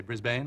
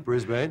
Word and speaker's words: Brisbane: I've learned how to say it. I used to say Brisbane. Brisbane.